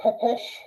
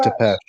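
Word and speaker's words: Țepeș: Yeah, Or Vlad Tepes. yeah. I think Right? that's how you say it, is But Tepesh.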